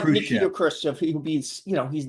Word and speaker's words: Khrushchev: Nikita Khrushchev.